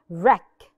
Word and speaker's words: wreck: and v r gadbadiha wreck shipwreck wreck the W is silent rap rap whole whole